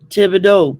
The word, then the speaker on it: Thibodeau: I'm everything down here ends in EAUX, and that's pronounced O. Thibodeau, Boudreaux, Fontenot, go.